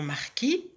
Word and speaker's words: marquis: La même chose pour le nom marquis. La lettre S ne se prononce pas, mais lorsque ce mot